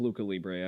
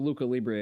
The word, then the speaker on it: Lucha Libre: Yes, I've heard of Luca Libre.